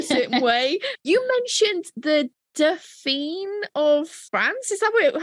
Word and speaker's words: Dauphine: You mentioned the Dauphine of France. Is that how you say it? Dauphine, yeah.